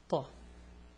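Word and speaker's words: ث: It's Thaa. It's not ta. This is a ta, and this is a Thaa. So they're similar, but the Thaa is heavier, you know, Thaa.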